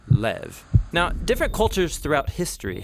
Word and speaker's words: לב: in this prayer heart which in Hebrew is sometimes pronounced lev or more often in a shorter form lev now different cultures throughout